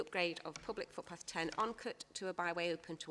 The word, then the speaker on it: Onecote: Onecote, I think they pronounce that way. Is that correct, Sue? Onecote, yeah.